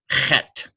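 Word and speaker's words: חית: And that's why there's a dot under that H to indicate a sort of a guttural. And it's sort of a KH almost. It's almost like in the back of your throat. Chet.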